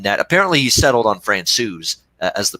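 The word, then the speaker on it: Francouz: France OU's in that apparently he settled on France OU's as the pronunciation has Scott from Frank whose to France so now it's France sues I think we've settled on I think he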